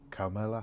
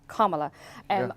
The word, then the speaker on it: Kamala: And I believe you have a connection to Kamala Harris. Am I saying that right? Well, I had to go look it up. So apparently it's comma, like the punctuation mark, and la, Kamala.